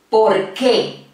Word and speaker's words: por qué: ¿Por qué? Porque. Vamos de nuevo. ¿Por qué? Porque. Nota que la mayor intensidad de voz aquí yo la hago en esta parte, en esta sílaba, que, ¿por qué?